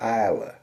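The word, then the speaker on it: Islay: You spell it I S L A Y. You pronounce it Isa. Or the Scots might call it something remotely resembling a.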